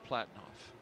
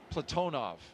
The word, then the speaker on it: Platonov: Our crew today, commander Zena Cardman, pilot Michael Frink, Jaxa astronaut Kimmy Aayoui, and Rosscosmos cosminaut Alleg Platinoff. Platonov. I corrected my pronunciation yesterday and I slipped back into Americanizing.